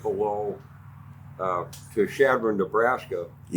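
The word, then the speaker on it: Chadron: And uh then we would go uh to uh right below uh to Shadron, Nebraska.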